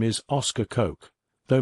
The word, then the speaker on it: Koch: His name is Oscar Koch, though most Americans would have pronounced it like Coach.